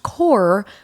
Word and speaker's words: Corps: Why is it spelled corpse, but it's pronounced core?